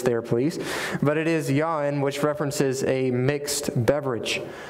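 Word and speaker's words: יין: Well, the Hebrew word here is the word yayin, which is my southern pronunciation of that Hebrew word, so give me a little bit of grace there, please.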